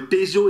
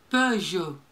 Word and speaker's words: Peugeot: Peugeot Citroën. Hã? Peugeot. Peugeot. Alors, é a mesma coisa, não, é, é Renault, não, é, não, é Peugeot e Peugeot. Peugeot.